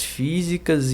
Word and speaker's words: físicas: O vocábulo destacado em e pessoas com doenças e deficiências físicas e mentais apresenta a mesma tonicidade. Tonicidade é a força, né? Da sílaba tônica.